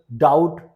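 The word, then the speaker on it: doubt: बी टी से पहले आता है date subtle डाउट debtor नटेड okay यहां पर आपने देखा बी साइलेंट है बी का कोई साउंड नहीं है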